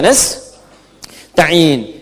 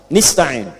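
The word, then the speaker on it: نستعين: Iyaka na'budu wa iyaka nastain. Ada yang baca pakai kasrah nistain ya. Nistain ini bacaannya dari Bani Asad, Rabiah, dan Bani Tamim. Tapi kita baca harus menggunakan fathah kalau untuk kita ya.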